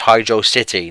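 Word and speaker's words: Hydrocity: if you want to if you want to pronounce it hydros that's fine just when when I when I was that young I couldn't pronounce that word so I just said Hydro City cuz I was an ignorant little well it makes sense to me because it's Hydro plus velocity and you go pretty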